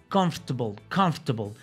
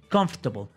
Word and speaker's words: comfortable: Comfortable. Imagina que esta letra O, la segunda, no suena. Comfortable.